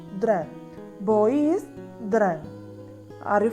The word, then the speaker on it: dreng: When we pronounce, the last NG should be soft at the end. So, total all together, we can pronounce it as drang, drang, drang.